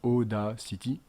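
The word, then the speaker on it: Audacity: avez ici aacity euh aacity comme ça se prononce ODAC City donc audio ENF voilà c'est gratuit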